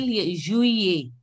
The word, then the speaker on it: juillet: No, you have to pronounce till juillet. Juillet. Juillet. Juillet. Juillet. Juillet. Juillet. Lata Ramesh, can you say juillet? Juillet. Try to pronounce J as J.